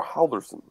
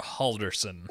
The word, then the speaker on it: Halldórsson: Hans Thor Halldorsson. I mean, first and last name are about correct. The middle, you're not going to get. It's Thor. Just pronounce Thor. Hans Thor Halldorsson.